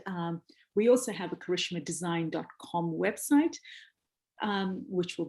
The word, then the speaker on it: Karishma: on twitter on facebook and on instagram at karishma design and that is exactly as my name is pronounced and exactly as design is written and